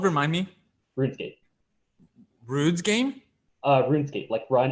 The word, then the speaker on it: RuneScape: but I feel like RuneScape was really kind of the building blocks of this mindset. What's the game called? Remind me. RuneScape. Rude's game? RuneScape, run. It's spelled run escape, but it's pronounced RuneScape.